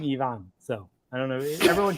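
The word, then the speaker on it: Evan: Yeah, he actually does pronounce his name Yvonne.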